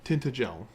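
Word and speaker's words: Tintagel: Tinted pronunciation tinted gel. Okay, so that's how I had been I had been calling it tinted gel.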